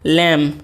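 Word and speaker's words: lamb: अ उल्फ स अ लम देखिए इसको लम नहीं पढ़ेंगे बी साइलेंट होता है इसको लेम पढ़ेंगे क्या है अ उल्फ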